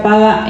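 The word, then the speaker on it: פָּגַע: de la palabra interceder, que es paga, no que sea paga, sino que se pronuncia paga en hebreo, y esta raíz significa interponerse, hacer que se ruegue, reunirse, orar o, propiamente dicho, interceder.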